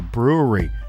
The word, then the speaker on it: Bruery: This week we are featuring Black Tuesday Grand Reserve 2020 by the incredible men and women over at the brewery. If you're looking for them online, that's spelled Bruery.